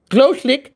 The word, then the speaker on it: Gloschlik: You can pronounce it Gloschlik. Hey, I did it right. I didn't even look at that. Like a glow stick, but you're putting a S in the Gloschlik, if it helps.